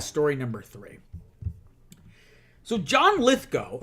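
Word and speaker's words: Lithgow: number three so John litho apparently it's John lith go not gal I've been saying it wrong this whole time John litho has confirmed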